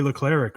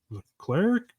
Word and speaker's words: Leclerc: Leclerc, who's now got, I always say this guy's name wrong. Leclerc. Leclerc? Leclerc. Okay. Something. There's no I in there, and it's throwing me off because I feel like there should be.